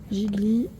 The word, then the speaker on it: gigli: alors c'est Gigli ça ça se prononce Gigli à Pomodoro et ceci